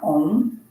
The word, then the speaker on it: om: um reciting the mantra om three times. So take a deep breath through your nose and it's like pronouncing a u m inhale.